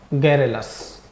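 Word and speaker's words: garrulous: देखो सही प्रोनाउंसिएशन तो होता है इसका, गारुलस बोल देते हैं, बाकी का सही प्रोनाउंस की बात करें तो ये होता है गैरेलस, गैरेलस, बातूनी।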